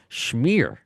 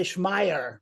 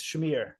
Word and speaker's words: Schmier: it right because yeah because many Americans say schm you know because yeah it reads like this but it's Shamir yeah it's basically like you know you know the smear test you know for woman oh I wasn't gonna